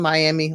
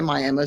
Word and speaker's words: Miami: go to Miami which it's spelled Miami like the uh like in Florida but for some reason in Oklahoma they call it Miami and it's a smaller